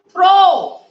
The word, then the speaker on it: throw: Now, throw. Throw. O तक की अपन बोलते हैं. W साइलेंट है इसमें. फिर है कुड.